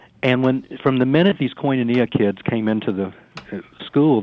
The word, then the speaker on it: Koinonia: Koinonia.